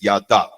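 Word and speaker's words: ידע: you see there is yada. Everybody say yada. One more time. Yada. So give a little more stress to the second syllable, D, okay? Yada.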